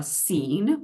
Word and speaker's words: C3EN: Health disparities researchers that are part of uh scene which is how you pronounce our acronym and so we're starting with